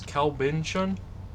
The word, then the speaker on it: Kalbintion: pronounce it uh the way I prefer to pronounce it is CB Bon uh that is k a l b i